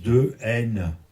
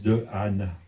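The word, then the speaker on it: Dehaene: Mais le monsieur de Anne, son nom, ça se prononce de N. Pourquoi il veut absolument qu'on le dise de Anne?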